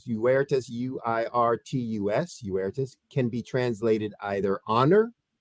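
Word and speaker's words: Uirtus: I need you to pronounce the name in Latin. In Latin, Uertus Edecus. Uh-huh. All right, Uertus, U-I-R-T-U-S, Uertus, can be translated either honor or excellence.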